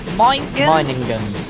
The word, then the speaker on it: Meiningen: How do you pronounce that word? Minigan. Meiningen.